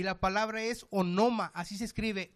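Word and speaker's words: ὄνομα: Y la palabra es onoma, así se escribe, O-N-O-M-A, onoma.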